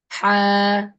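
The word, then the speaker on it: ح: But is it the real pronunciation? Ha, ha. No. The real pronunciation is from the throat. The throat. Imagine this is your throat. Okay. And this middle part of your throat, here the letter ha is pronounced. And the ha should come from inside the middle part.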